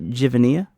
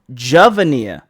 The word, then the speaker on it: Javania: Yep. Oh, Javania. Javania? Javania. Oh, okay. Javania.